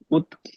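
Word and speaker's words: août: नाउ ए ओ यू टी है, this is again exception. A read नहीं करेंगे यहाँ पर हम, टी आधे त की साउंड आएगी। ओ यू कौन सी साउंड है, उ, ऊ। सो हाउ you will read this, उत, यस, ऊ, क्लियर। ए रीड नहीं करना हमने यहाँ पे, यस।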